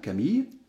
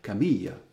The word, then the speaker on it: Camille: prononcer en deux syllabes camille si vous habitez dans le sud de la france probablement vous avez plutôt l'habitude de le prononcer réellement trois syllabes camille d'accord donc ici vous